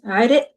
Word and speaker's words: عرق: So the qaf is typically pronounced as a glottal stop in Lebanese. عرق يعرق.